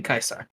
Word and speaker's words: Caesar: Target creature DJ kaisar Caesar Kaiser that's what the traditional Latin pronunciation would be kaisar okay and that's what